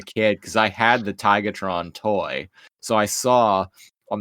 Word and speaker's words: Tigatron: And then the voice actor for Optimus said Tigertron, and I was like, hey, you say his name right. he always says Tigertron.